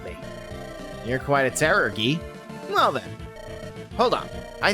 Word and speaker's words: Guy: people of sakai never lie isn't that right guy or ghee sorry ah fine if i i